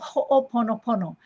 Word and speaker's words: ho'oponopono: make things right and in pronouncing it it is ho'o like uh oh right and we want